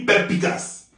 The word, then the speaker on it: perspicace: Mais ça se crie avec un S avant le P. Et de l'autre côté, il n'y a plus de S. Ça se lit, la façon ça se lit, c'est pas comme ça, ça s'écrit. Ça s'écrit perspicace, mais ça se lit perpicace.